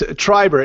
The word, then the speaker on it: Treiber: media spellings yeah okay it's Treiber it's a TR I berr it's like tribe with two R's of the end Treiber com okay Treiber calm